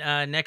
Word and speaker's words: NECA: That's how you pronounce it, right? NECA.